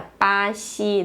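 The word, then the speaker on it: 巴西: Esse bra aqui fica com um som parecido com esse ideograma em chinês, em mandarim, que é pá, e o ziu aqui fica parecido com a pronúncia desse ideograma, né? Xi, né? Fica pá, xi, né? Brasil, né?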